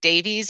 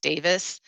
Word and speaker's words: Davies: Uh well, we would say it Davies, but I think it's actually pronounced Davis.